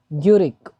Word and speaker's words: Guericke: Otto von, ठीक है, ग्यूरिक। ठीक है, ओटो वॉन ग्यूरिक। ठीक है, इन्होंने खोजा था। ग्यूरिक की स्पेलिंग ये देखिए दोबारा, GUERICKE, ग्यूरिक।